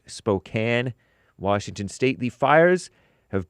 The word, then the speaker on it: Spokane: It looks like Spokane, but is pronounced Spokane, Washington State.